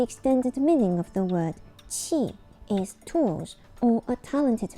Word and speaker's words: 器: The Chinese pronunciation of this word is qi.